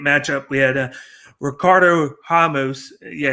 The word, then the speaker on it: Ramos: the men's featherweight up we had a ricardo hamos yeah it's pronounced hummus instead of ramos i'm gonna say ramos i don't give a